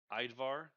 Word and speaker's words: Idvar: think about it, like how in Viking culture, how the J with it is silent and sounds like a Y, it's like that.